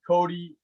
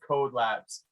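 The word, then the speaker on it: Kode Labs: Is it Cody? Is it Code? It's pronounced Code Labs.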